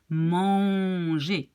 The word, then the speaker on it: manger: So it's manger. It's not manger. You don't say the N, okay?